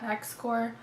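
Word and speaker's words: Xcor: It's X-C-O-R. To me, that's Core. I like the X is silent. X-Core.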